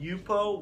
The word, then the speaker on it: Yupo: It's called Yupo, Y-U-P-O.